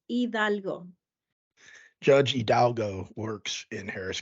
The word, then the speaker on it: Hidalgo: You don't pronounce the H. It's Hidalgo.